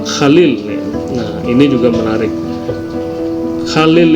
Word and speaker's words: Khalil: nah ini juga menarik Khalil itu sebenarnya ucapan dalam bahasa Arab yang benar namun kemudian dalam pengucapan bahasa Latin atau bahasa Inggris ke berubah menjadi kalium nah kemudian berubah namanya menjadi